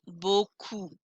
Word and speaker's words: beaucoup: brunch i don't hear final p's merci beaucoup merci beaucoup and i do not